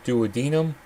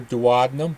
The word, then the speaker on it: duodenum: Food that leaves the stomach enters the small intestine in the following order of the duodenum or duodenum. Both pronunciations are correct.